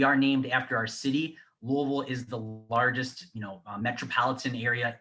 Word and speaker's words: Louisville: This is the University of Louisville. We are named after our city. Louisville is the largest, metropolitan area in Kentucky. You can pronounce it Louisville.